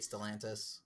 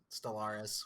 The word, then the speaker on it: Stellantis: Dude, I hate Stellantis, Stellaris, whatever. Dumbass name. Did I say it right the first time? Stellaris is a drug. Stellantis, yeah.